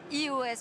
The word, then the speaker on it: eOS: Open Source logiciel libre il s'appelle iOS mais ça s'écrit eos et là aujourd'hui sur